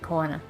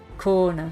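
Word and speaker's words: Koana: Oh, that's how you say it, Kona. Kona.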